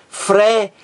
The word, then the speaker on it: frequência: sempre estará aqui ó Qual é a sílaba mais forte de frequência é aqui a do meio ó eu digo frequência frequência a mais forte aqui